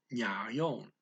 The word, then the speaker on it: ngayon: The speaker blends the ano with ang, and the speaker leaves off the second syllable of nayon. Okay, what? Ano. Ang. Subject marker. Pleases you. Gusto mong. To do. Gawin. Today. Ngayon. Although speaker just says nya here.